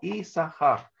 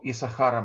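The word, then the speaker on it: יִשָּׂשכָר: моему мужу, вати крашмо и сахар. И назвала имя его Исахар. Исахар происходит от слова сахар, но традиционно пишется вот здесь нечитаемая буква син.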